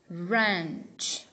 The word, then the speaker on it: wrench: one this is ranch wrench wrench W is silent w at the beginning followed by the r it's always silent um foreign